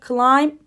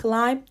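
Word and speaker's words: climb: ortam anlamında da kullanılır clim b yok B'yi telaffuz etmiyorsun clim dediğimiz şey tırmanmak anlamına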